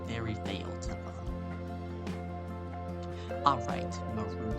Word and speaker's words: Marud: That's how you say it, Marud. M-A-R-U-D, Marud. Like, you're rude.